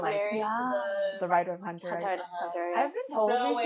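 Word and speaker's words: Hunter × Hunter: She was married to the writer of Hunter. Hunter. I've been told still recently, waiting for that. I've been told recently that it's just pronounced Hunter Hunter. Yeah. I'm still gonna say Hunter x Hunter.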